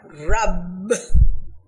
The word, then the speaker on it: Rabb: we should pronounce it the word another name of god rabb has a double b so that should be